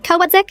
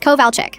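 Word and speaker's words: Kowalczyk: "Yes, Mrs. Kodzick," I said, pronouncing her name like I was sounding it out for the first time. Her head snapped up from her notes. It's Kovalechic.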